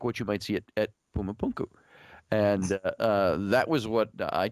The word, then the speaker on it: Puma Punku: You know, Puma Punku. It's like Puma Punku. Puma Punku. All right. So anyway, the stones are fitted together a lot like what you might see at Puma Punku.